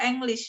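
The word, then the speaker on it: Englisch: Enggak, English itu dibaca English dalam bahasa Jerman karena huruf letter E itu tetap dibaca E, not I. Ya, bukan I.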